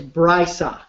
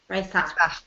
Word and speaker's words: Breisach: And I want you to know that I am committed to pronouncing every city properly. So I know Basel, right? And it's Breisach. Breisach.